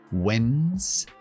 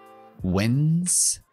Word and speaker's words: Wednesday: Tiene una D muda que no se pronuncia. Es muy sencilla, simplemente Wednesday, Wednesday y después day.